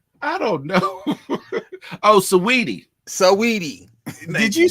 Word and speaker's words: Saweetie: Is it Swati? What? How you pronounce that woman name? I don't know. Oh, Saweetie. Saweetie.